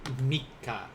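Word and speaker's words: 三日: a complicated matter so instead of like san nichi for three days it's going to be mikka for today is the third day of the month in japanese so kyouwa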